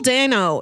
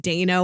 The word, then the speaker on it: Dano: directed by and or starring Adan uh Paul Dano is also In There Will Be Blood and swiss army man and even though I know his name is pronounced Dana when you look at it it looks like